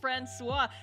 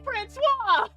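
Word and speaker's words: François: You're naming your Roomba Francois. There's no T in Francois!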